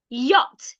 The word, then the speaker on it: yacht: it's yahoo yah boy yacht y a c h t don't say y the CH in that word is silent British will say yach